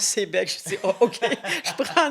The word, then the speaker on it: Sayabec: Sayabec, je connais pas Sayabec. Alors, en parlant avec mon agent d'immeuble, il dit Madame Moule, on prononce Sébec.